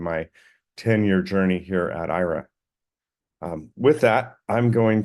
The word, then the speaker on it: Aira: again Ira um it's it's spelled a i r a but think of the a as silent and I adapted this